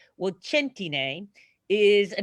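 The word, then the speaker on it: Centine: That would be the Italian way of saying it, but I mean the American way of saying it. But the Italian way is ch, so it's a hard C. So think of cento, like 100.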